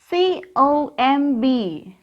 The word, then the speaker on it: comb: C-O-M-B. How can we read this? Comb. Repeat it. Comb. Here, B is silent.